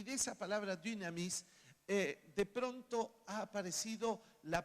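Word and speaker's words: δύναμις: dynamis, que en realidad no es ni dunamis ni dinamis, pero es un tema de fonética más que nada. Alguien dijo, es la U francesa, y la U francesa se pronuncia poniendo la boca así.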